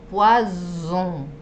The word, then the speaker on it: poison: Bien, veneno, poison, poison. Y pescado es poisson, sonido de S, poisson.